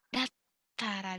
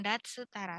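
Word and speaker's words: だったら: Dattara desu ne, bukan datsu tara, dattara.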